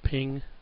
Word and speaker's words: PNG: those areas all right PNG like I say pronounce ping and just for your